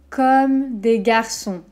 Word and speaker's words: Comme des Garçons: garçons donc celle ci j'ai entendu beaucoup de prononciation différentes attention comme à un petit peu ouverts pas le haut très fermé de contrôle par exemple au come home comme des comme un sourire un peu crispé comme des gars sont comme